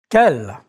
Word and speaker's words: quel: Quel. Quel. Quel. Quel. See the different spellings, but they always have the same sound.